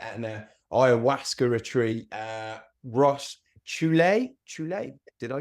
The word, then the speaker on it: Chouler: Ross Chouler. Chouler? Did I pronounce that correctly? Chouler, Chouler.